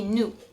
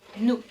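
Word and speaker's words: nous: in French would be new new so once again you can see that the S at the end is silent don't know why just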